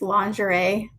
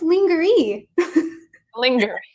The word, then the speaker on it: lingerie: feel like a good example of that is lingerie nothing like I remember being a little kid let's linger linger yeah it's not fully